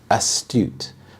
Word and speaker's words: astute: Astute. The stress is on the second syllable, astute. This means having a sharp insight or the ability to assess situations well.